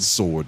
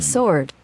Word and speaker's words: sword: that I think the W was silent I'm pretty sure it is 100% sure a choice I think it's one of those choices tomato tomato sword sword yeah that's the pronunciation